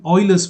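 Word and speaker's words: Euler: hope you know the Oilers formula uh it's written as u e l e r it's pronounced Oiler I will just uh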